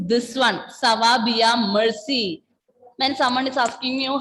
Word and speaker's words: merci: So pronunciation is not mercy. R will not be pronounced like that. Mercy. R sound is coming there. Mercy. Oui, ça va bien, merci.